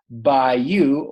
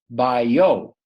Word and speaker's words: bayou: A bayou is a southern waterway that mixes with the sea. It can be pronounced by you or bio.